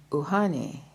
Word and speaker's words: uhane: Uhane is pronounced uhane.